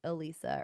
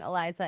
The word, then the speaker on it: Elisa: like it really applies to the relationship between Elisa or Eliza sorry I keep saying her name wrong Eliza and the amphibian man cuz she like in